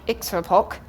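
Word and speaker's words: iktsuarpok: was in the list there's an Inuit word pronounced hopefully something like extra POC which is the illustration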